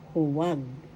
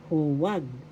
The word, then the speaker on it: huwag: Huwag. First syllable hu. Second syllable wag. The second syllable has the accent. Huwag. Huwag. That means do not do such a thing. Huwag.